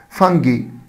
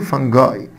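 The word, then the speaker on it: fungi: فانجي، فانجي ولا نطق طبعا تاني، فانجاي.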